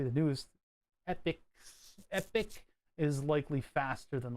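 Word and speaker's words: EPYC: atom cores oh man I have no epic pronounced epic are the server CPUs that thread Ripper is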